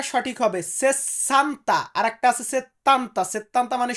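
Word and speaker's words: sessanta: বলবো 60 এটাকে আমরা ইতালিতে বলবো সেসান্তা সেসান্তা উচ্চারণটা সঠিক হবে সেসান্তা আরেকটা আছে সেতান্তা সেতান্তা মানে 70 আর সেসান্তা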